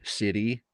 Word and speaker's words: Sidhe: And again, the Irish word is city, is spelled Sidhe, describing the fairies, and it means power.